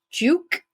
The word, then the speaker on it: Giauque: So Beacon of Light podcast, and then Giauque. Yep, that's how you say it. It's not how it's spelled, but yep.